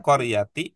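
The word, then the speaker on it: قرية: Tidak pakai qori, tidak pakai qoro, tidak pakai qoru tapi qor mudarrisatul qoryati ada dua pilihannya.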